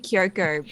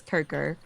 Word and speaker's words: Kirko: I keep saying Kyoko, but it's Kirko.